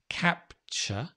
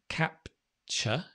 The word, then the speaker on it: capture: it's pronunciation's so important capture capture captivity can you see where the stress has changed from capture to captivity captivity and always with